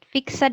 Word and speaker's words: fixed: Not fixed ya, but fixed. Like T at the end.